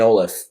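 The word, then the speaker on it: St. Olaf: i think it's st i think it's pronounced olaf it makes no sense but yeah how it looks but like i think we got corrected on that a couple years ago at nationals okay it is olaf so yeah but a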